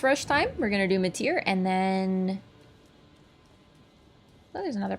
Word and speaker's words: Metyr: I gotta say it right, Metyr.